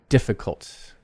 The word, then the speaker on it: difficult: So, a word like difficult, main stress is on the first syllable.